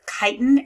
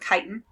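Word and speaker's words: chitin: however is made with kiten is how you say that word so pronounce it with a k sound kiten um instead of cellulose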